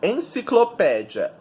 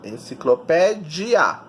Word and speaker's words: enciclopédia: Então, ali, ó, enciclopédia é paroxítona, sílaba tônica é o pé, e ela é terminada em ditongo, IA, enciclopédia.